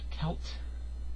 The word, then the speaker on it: Celt: uh Celtic cross uh I'm not kelt a kelp I think that's how it's pronounced you know I'm not